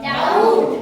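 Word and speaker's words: doubt: पाहिजे form okay त्यानंतर डी ओ यु बी टी काय उच्चार यायचा डाऊट डाऊट काय सायलेंट आहे मग बी हा यातला काय झाला सायलेंट झाला यासारखे काय करायचे असे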